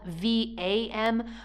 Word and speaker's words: vam: Okay, now it's spelled V-A-M, but it's pronounced vam.